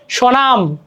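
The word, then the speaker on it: স্বনাম: mark কাটা যাই হোক প্রথম ব্যঞ্জন বর্ণে বফলা সংযুক্ত হলে সে বফলার কোন উচ্চারণ হয় না যেমন সনাম সনাম দেখ হইছে নিচে ব আছে বাট কিন্তু সবনাম তো হয়নি রাইট সনাম হইছে তারপরে কি ধনি এইযে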